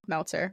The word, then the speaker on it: Meltzer: Hi, I'm Meltzer. Rhymes with Seltzer.